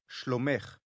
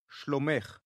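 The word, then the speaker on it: שלומך: peace to a woman schlomech did you hear the ech sound at the end of shlomekh say this word again shlomekh and now the word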